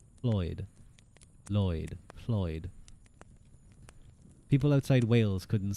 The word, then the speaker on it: Lloyd: Um, which is pronounced produced by placing your tongue in the standard L position and blowing air at the sides of your mouth, creating a hissing or whispered sound. Floyd. Lloyd.